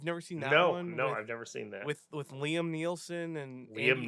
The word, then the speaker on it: Neeson: With Liam Neeson and Liam Andy Nielsen.